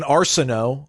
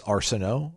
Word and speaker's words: Arsenault: Let's go to Kevin Arsenault. I think it's Arsenault. Arsenault. I'm going to go with the French pronunciation.